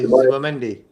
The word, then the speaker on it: Zubimendi: Did he pray for us to buy Zubimendi? That's what we need now, Prez. Zubimendi. That's how you pronounce it, you know.